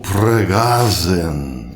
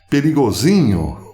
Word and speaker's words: Prigozhin: E a pergunta que está rodando o mundo hoje é: quem matou Pregazen? Parece que essa é a pronúncia correta para o finado líder do grupo Wagner, conhecido por aqui como Perigozinho ou Prigozhin.